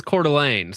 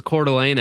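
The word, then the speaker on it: Coeur d'Alene: See, I knew that it was Cordelane. So, listen. If I didn't know that it was Cordelane ahead of time, I would have been like murdered, okay, on stream with that pronunciation.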